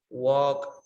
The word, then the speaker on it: walk: with eddie remember these words for example talk walk okay don't pronounce the letter l okay it's increase you